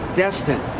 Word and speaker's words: Destin: Just think of the module. There's a Destiny module right over there.